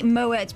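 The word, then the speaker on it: Moët: Well, no, I think if you're being really pretentious, it is, because you're referring to the French pronunciation, and it's only Moet because it's got an E after it.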